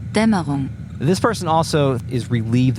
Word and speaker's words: Dämmerung: Damerang? German fake net. Fake Netz initialisieren. It is pronounced Dämmerung.